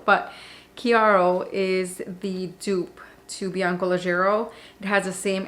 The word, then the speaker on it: Chiaro: line chiaro i know i say chiaro i know how to pronounce it i just like how it sounds better shiaro but kiaro is the dupe to